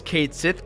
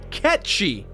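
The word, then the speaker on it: Cait Sith: it gets really annoying dude the game calls Kate Sethe Kate's it but the correct pronunciation is in fact catchy this is becoming a pretty big mess REME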